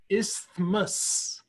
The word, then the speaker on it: isthmus: I just realized I said it wrong. It's isthmus.